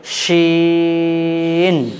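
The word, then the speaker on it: شين: এবার দেখেন এই অক্ষরটা উচ্চারণ নিয়ম, জিভের মধ্যখান, জিভের মধ্যখান ওপরের তালুর সঙ্গে লাগবে, জিভের মধ্যখান ওপরের তালুর সঙ্গে লাগবে। উচ্চারণটাকে লম্বা করতে হবে এবং এই অক্ষরে উচ্চারণ করতে গিয়ে আওয়াজটাকে মোটা রাখতে হবে।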